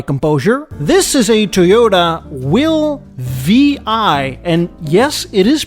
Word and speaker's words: WiLL Vi: have regained my composure this is a toyota will vi and yes it is pronounced this way this car was part of